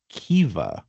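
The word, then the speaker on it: Caoimhe: So, it's spelled C A O I M H E. I mean, if we go by all those rules, I don't know what the C would be, but we would end up with something like Kea.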